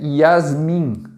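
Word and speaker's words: Jasmin: para anunciar como Janaína o certo é jazmin não é jazmin é Yasmin Ok você já isso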